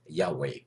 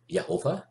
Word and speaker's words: Yahweh: all of my studies I use YHVH in Hebrew, which I like to pronounce as Yahweh. Some people pronounce the four Hebrew letters of YHVH as Yehovah and others as Yahuwah instead of Lord, which is